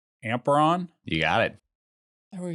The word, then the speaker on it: Amperon: on and let me see if i can pronounce this right amperon you got it there we go i mean